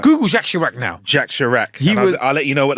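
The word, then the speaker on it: Jacques Chirac: Jack Sharak. I'll let you know what they look like then, guys. help help you spell it. Jacqu as in the French way.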